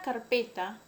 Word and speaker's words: carpeta: La palabra carpeta, la sílaba tónica es P, tiene acento pero no tilde.